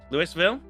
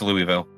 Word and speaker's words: Louisville: Lewisville. It's Louisville. Louisie. Yeah, it looks like Louis. It's It's spelled that way, but it is pronounced as Louisville.